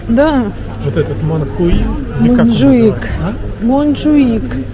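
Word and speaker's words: Montjuïc: вот этот Ман хуи монжуик нет э буква читается как х Ну не знаю называется монжуик вот этот 150 автобус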